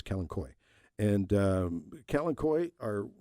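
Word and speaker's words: Kalanchoe: that's the aelas um Kalen koi the uh or keni I've heard I've heard several different pronunciations of Kalen Choy uh but I think the proper name is kenoy and um Ken Koy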